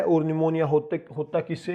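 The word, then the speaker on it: pneumonia: इसके बाद नेक्स्ट जो बीमारी है निमोनिया भाई, निमोनिया, इसमें पी साइलेंट है इसलिए पहले लिखा जाता है भाई निमोनिया।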